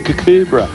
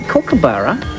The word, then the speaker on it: kookaburra: And look, it's a cucubra. Agro, look, before we talk about cucubras... Is that a cucubra? It is. It's a kookaburra. Kookaburra, say it properly.